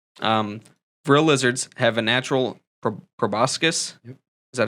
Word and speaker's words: proboscis: Vril lizards have a natural proboscis. Is that how that's pronounced?